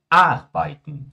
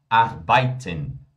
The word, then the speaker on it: arbeiten: O brasileiro costuma falar assim, ó, arbeiten, arbeiten, arbeiten. Errado, pessoal. Em alemão é arbeiten. Olha só, arbeiten, arbeiten.